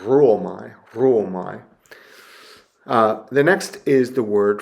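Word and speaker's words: ῥύομαι: with a rho, and it really doesn't add anything significant to the pronunciation. So you don't go, ruomai. Maybe you give a little bit of a trill to the R, ruomai.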